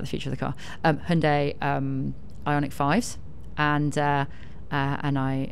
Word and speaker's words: Hyundai: properly, we're out the future of the car, Hyundai Ioniq 5s, and And I am reliably informed